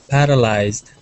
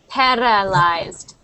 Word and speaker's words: paralyzed: next one paralyzed so there's a little bit of a roll on your R you're saying par paralized so try saying par par paralyzed paralyzed paralyzed par and keep your tongue it's not allowed to touch anything else in your mouth so keep your tongue back par pared do you